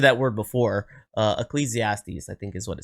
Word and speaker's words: Ecclesiastes: reference paraphrasing all right I use the internet pronunciation for this so if I'm saying it wrong understand that I tried Ecclesiastes okay um that's at least what the internet said is how it's pronounced um I believe I've